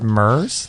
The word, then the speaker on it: MERS: here uh is that is this how you pronounce it mers like the real estate thing right right um